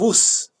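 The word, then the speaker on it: Uz: job what a coincidence oohs in the land of ooze is spelled in english you z you know but in hebrew it's not you see in hebrew is just in the land of us right in the land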